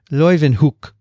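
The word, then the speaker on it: Leeuwenhoek: live in hook let's see she said i pronounced that properly hookstra and she said you would say leuven hook is that right dixon it is good now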